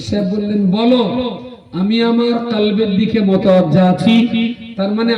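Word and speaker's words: قلب: আর ওইটা যদি বড় কাফ উচ্চারণ না করে যদি বলেন কালবুন, তাহলে কালবুন মানে কুকুর। কালবুন মানে কুকুর। তো পীর সাহেব বললেন বলো আমি আমার কলবের দিকে মুতাওয়াজ্জা আছি, তার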